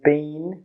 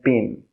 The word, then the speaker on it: been: We don't say you, we say ya, and we don't say been, we say been.